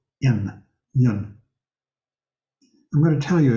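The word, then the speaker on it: yün: It's spelled Y-U with an umlaut, 2 dots over the U, in, yun.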